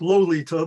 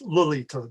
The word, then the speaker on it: Lalita: It's not Lolita, but it's Lalita.